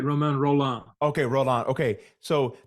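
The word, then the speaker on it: Romain Rolland: with oh um um you had it right Roman roll on okay roll on okay so don't you think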